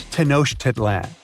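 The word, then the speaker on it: Tenochtitlan: Can you pronounce this name of the Aztec capital city? Yes, it's quite difficult to say in English and above my pay grade. Okay. Okay. It's Tanosh Titlan.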